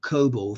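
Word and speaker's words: COBOL: to be try oh right yeah cobal yes pronounce Co cobal thank you so much for that uh Kevin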